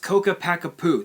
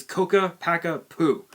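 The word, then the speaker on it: Ccapac Apu: i don't give a damn honestly but it's pronounced coca packa poo that's the proper term it's coca packa poo for some reason they all people always mispronounce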